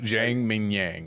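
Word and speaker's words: Zhang Mingyang: Jang Mingyang.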